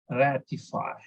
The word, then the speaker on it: ratify: When a verb ends in IFY, stress the syllable before IFY ending. So for example, in this case, ratify. So stress on RA, ratify.